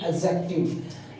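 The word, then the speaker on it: adjective: प्रणव के बाद बोलेंगे एक्जेक्टिव इसमें देख रहे हैं ए और के के बीच में जो दी है इसको साइलेंट कर देते हैं इसको बोलते हैं एक्जेक्टिव क्या बोलते हैं एक्जेक्टिव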